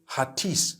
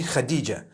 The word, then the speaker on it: Khadija: In Turkish, some people spell it H-A-T-I-C-E. I would say Hatis for that. No, it's actually Khadija.